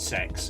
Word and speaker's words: CeX: Tottenham Court Road called CeX and yes the joke is it's pronounced sex it's a sex shop